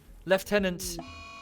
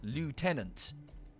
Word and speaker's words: lieutenant: have screwed it up leftenant is relatively close to how it said whereas the Americans have pronounced it phonetically lieutenant when it's actually left